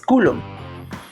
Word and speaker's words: coulomb: Hay muchas personas que pronuncian mal, pero el verdadero pronunciamiento es coulomb.